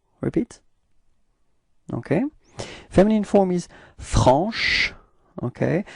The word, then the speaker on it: franche: So I insist a little bit on the sh at the end, but that's just the idea, you know, to show you how you should pronounce it, okay? But then it should be pronounced like franche.